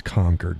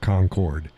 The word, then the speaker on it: Concord: It's Concord, not Concord. It's spelled the same. It's not pronounced the same.